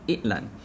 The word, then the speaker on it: iklan: are pronounced rakyat and i'lan. Notice how the sound from ra'yat, i'lan becomes glottal stop, rakyat, i'lan, simply because it is kind of hard for Malay people to pronounce that sound correctly.